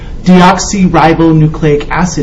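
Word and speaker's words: deoxyribonucleic acid: Deoxy ribboucleic acid is how you say it.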